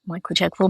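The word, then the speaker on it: Michael Chekhov: And what is the Michael Czechov technique if I've pronounced that correctly? Yeah, Michael Czechov.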